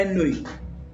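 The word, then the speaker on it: ennui: तो क्या होता है ये हमारा होता है एनवी। स्पेलिंग होती है UI और प्रोनाउंसिएशन होता है एनवी।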